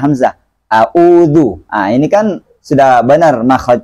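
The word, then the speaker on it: أَعُوذُ: Harus bacanya a'udzu, ya. Di ain harus jelas kedengaran, beda dengan hamzah, kemudian dhammanya juga didapatkan, ya.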